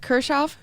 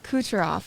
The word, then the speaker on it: Kucherov: Nikita Kershaw. Oh, that was very close, but So that's close, wrong. but no. That was Kucherov. Kucherov. It is Kucherov. Yes, everybody loves the Kucherov.